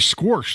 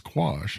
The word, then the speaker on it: quash: So I'll always laugh and say, we need to file a motion to squash the subpoena, which is not how we spell it when we file the motion. It's quash.